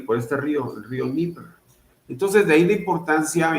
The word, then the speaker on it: Dnieper: Dnieper. Según Wikipedia, el Dnieper pronunciado NG, P en ruso, DNPR, Dnieper. En bielorruso, Dnipro. En ucraniano, Dnipro, es un río de Europa